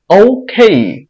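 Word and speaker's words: OK: উচ্চারণ কিরকম হয় দেখি এটাকে আমরা উচ্চারণ করি ওকে এটা ভুল উচ্চারণ এটার উচ্চারণ হবে ও খেই এটাকে আমরা উচ্চারণ করি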